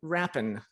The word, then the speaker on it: Rapin: pacheco and with me i have christine campbell rappin is that pronouncing that right beauty you did good job